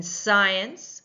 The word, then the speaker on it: science: In science, we do not hear the c sound or the k sound. We just hear that sound, the s sound at the beginning.